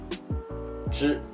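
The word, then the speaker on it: 住: live living okay and the pinging is z-h you with the fourth tone and it falls on the vowel sound here chew chew chew chew chew okay chew means to live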